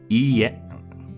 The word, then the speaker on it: いいえ: いいえ When dealing with the repeated vowels such as ee, you draw out the length of the sound. It's not quite the same as repeating the vowel twice. Listen carefully for the example pronunciation. いいえいいえいいえ So it's ie. You just prolong the e.